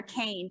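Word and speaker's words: Keyne: so i'm kane kane like candy cane i always say it that way even though it sounds a little silly it helps people remember how to pronounce my name because it's spelled k-e-y-n-e and even though uh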